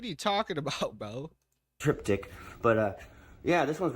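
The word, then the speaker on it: triptych: dick tip what are you talking about bro trip tick but uh yeah this one's really cool I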